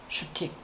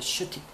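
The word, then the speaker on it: shtick: 그러나 슈틱. 스틱하고 발음이 비슷합니다. 슈틱.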